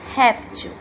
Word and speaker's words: réptil: intensidade com mais força temos aqui a palavra réptil réptil observe que falamos a primeira sílaba certo com mais intensidade réptil então nós temos aqui